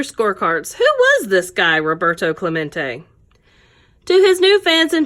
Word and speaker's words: Roberto Clemente: Roberto Clemente was his name and this is pronounced Roberto Clemente as if to introduce himself Roberto smack to